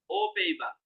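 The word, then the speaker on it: aux Pays-Bas: ও পেইবা, উচ্চারণ হচ্ছে ও, ও পেইবা।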